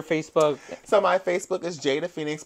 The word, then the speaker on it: Jada Fenix: So my Facebook is Jada Fenix, but it's spelled phonetically. Okay. Which, for some of you hoes that don't know what that means, it's spelled the way it sounds.